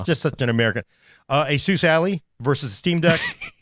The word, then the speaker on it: Ally: Asus Ally versus Steam Deck. You just said Ali. What the hell is it? It's the ally.